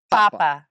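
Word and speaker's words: papá: to put this here this is where we hit the emphasis under the a papa Papa so mhm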